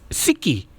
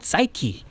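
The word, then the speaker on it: ψυχή: 유래된 말이고 이제 사이코가 이제 그리스어로 소울, 마음과 영혼이라는 뜻에서 그 사이코라고 안 하고 그 본래 그 발음을 하면 시키 예.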